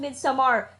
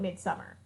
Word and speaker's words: Midsommar: And it is pronounced Midsommar. We were told at the press day that's how it's pronounced. Do not call it Midsummer.